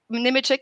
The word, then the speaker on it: Nemechek: So Nemechek is correct, the way of pronouncing it? Yes, okay. So she's the Opinary founder,